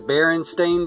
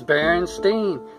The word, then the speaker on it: Berenstain: I remember that because I said Berenstain, and my dad, he said, well, it's spelled like Berenstain. My dad's passed away now a long time. But Berenstain, and he said, it should like Frankenstein. And I said, no, it's Berenstain.